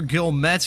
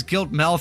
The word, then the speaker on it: Gilmet: And that was Tyler Gilmet, who I've been pronouncing as Giltmel throughout the entirety of this race.